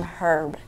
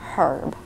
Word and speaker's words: herb: an herb garden but I'm calling him herb cuz it has an H but it's a silent h so I'm going to go against the English language and call him herb what's up herb you